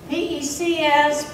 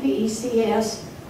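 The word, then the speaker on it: Pécs: day the city of I don't speak Hungarian pecs pronounced p-a-a-c-h you're on your own a city of Southwest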